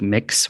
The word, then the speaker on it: Mx: And we didn't have a gender neutral prefix until more recently, which is MX, which is pronounced like mix. So you'd say like mix Murphy.